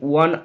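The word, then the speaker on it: one: ওয়ান, ও এর উচ্চারণ ওয়ার মতো হলে এ বসে, ও এর উচ্চারণ ওয়ার মতো না হলে অ্যান বসে, এখানে ওয়ার মতো হয়েছে তাই বসে গেল এ।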